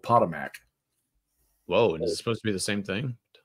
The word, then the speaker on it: Potomac: Potomac. That's what it is. Potomac. Well, we got schools around here that are spelt well with a K at the end, and they're called Potomac.